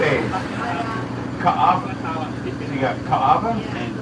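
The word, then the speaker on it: Kaʻawa: Ka'ava.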